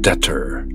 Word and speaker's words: debt: 할례를 받은 그는 that he is a debtor. 부채를 짊어지고 있는 사람이다. 의무를 가진 자입니다. debtor. 이때 be는 발음하지 않죠. 그저 det처럼 debt 그렇게 발음하죠.